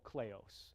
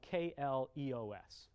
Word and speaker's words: kleos: that comes out of the ancient Greek called kleos, which is spelled K-L-E-O-S, kleos.